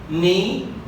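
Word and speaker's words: knee: الشواذ اللي هي يتواجد بها حرف الكي ولكن لا يلفظ. على سبيل المثال عندنا كل كي، طبعا كقاعده كل كي يجي وراها حرف الان تعتبر الكي هي مجموعه خاليه لانها لا تلفظ، والكلمات التي يتواجد كي وراء حرف الان مثل هذه الكلمات. نايف، اذا نلاحظ باللون الاحمر اللي كتبته اني لانه حرف الكي هنا عندنا ما يلفظ، اذا نايف، نو، نولج، ني، ونايت، والاخيره اللي هي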